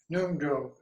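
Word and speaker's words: Ngondro: But the basis of all of the sutra and tantra is this Nungjo. It's spelled Ngon, second word DRO, which is called the foundation practice of Tantra.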